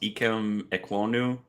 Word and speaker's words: Ikem Ekwonu: I'm going to butcher this, but I think it's pronounced Ikem Ekwonu.